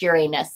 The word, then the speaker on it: Uranus: asses you're an ass you're in Uranus that's how I said it and then somebody said no it's actually pronounced Uranus and I'm like I